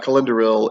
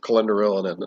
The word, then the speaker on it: Celendoril: but that's weird uh so really uh calendar hill is um the kingdom within the kalanathian forest but some people might say that the forest of calendar illinois that's perfectly acceptable uh to an outsider i'm sure so uh